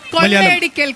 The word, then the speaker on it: കൊള്ളയടിക്കൽ: കൊള്ളയടിക്കൽ, കൊള്ളയടിക്കൽ, കൊള്ളയടിക്കൽ, കൊള്ളയടിക്കൽ, കൊള്ളയടിക്കൽ. In Malayalam you say kolai elekal.